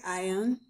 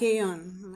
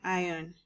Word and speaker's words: ion: 1 mole of lead ion and 2 moles, okay, 2 moles of bromide ions. There's nothing like aeon. I severally hear some people call aeon. I don't think that's the correct pronunciation.